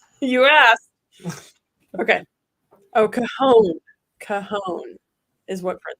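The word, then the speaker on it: Cajón: Cajon is what Fred said. That's how you pronounce it.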